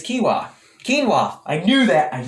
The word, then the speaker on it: quinoa: first you'll never get it wrong again it's kiwa quinoa i knew that i knew it i've